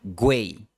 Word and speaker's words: güey: La forma güey empieza con la semivocal w.